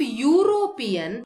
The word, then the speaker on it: European: But in case of European, though it starts with a vowel here, the pronunciation does not start with a vowel sound. It starts with a consonant sound. The consonant is ya. It starts with U, and U is not a vowel sound.